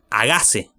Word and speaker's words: hágase: Dice, hágase. Hágase, es una esdrújula, lleva tilde.